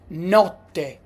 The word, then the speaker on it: notte: Don't pronounce it N. N. N. As in notte.